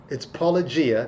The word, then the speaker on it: Paulogia: So most YouTube apologists who talk about this guy, they call him Apologia, all kinds of things. But it's Apologia. That's what he goes by.